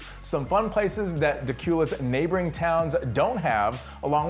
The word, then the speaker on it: Dacula: First, if you've never heard of Dacula, you'd better get the name right. It's spelled like Dracula, but without the R.